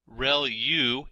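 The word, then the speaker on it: ReLU: there are multiple hidden layers like convolution layer real U is how that is pronounced and that's the rectified linear unit that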